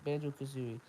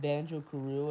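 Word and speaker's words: Banjo-Kazooie: said Banjo Kazoo, uh, wait, was it Banjo Kazooie, yeah, it's Banjo Kazooie. I said his name, I said his name wrong. I said Banjo Karoo, and then they made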